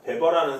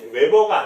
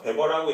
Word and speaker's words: 베버: 자, 우리가 테일러라는 사람이 있고 페율이라는 사람이 있고 자, 베버라는 사람이 있거든요. 웨버가 아니에요. 베버라고 읽은 걸로 봐서 이제 독일계일 가능성이 높네요.